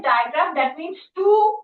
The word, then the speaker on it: digraph: It is like, die. It is pronounced as digraph.